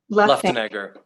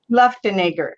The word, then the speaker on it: Luftenegger: Did I say right? Luftenegger. Luftenegger. Okay, I almost got it. I practiced even. Everyone gets it More though. syllables. Everyone says it a different way. Luftenegger.